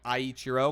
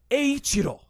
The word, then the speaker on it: Eiichiro: As people called me out for my video, I was saying Aichiro because I've still been pronouncing it like the American troglodyte that I am, and, read this as like I, as you would kind of in English or whatever.